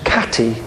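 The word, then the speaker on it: Khatti: know that the H is as to be pronounced as a KH and historians realize that the word isn't hittite the word katti k h a t TI for the place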